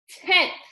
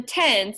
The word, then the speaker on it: tenths: value is called the tenths. And I'm going to be annoying, and I'm going to really pronounce, there's a THS on the end. It's not the tens, it's the tenths.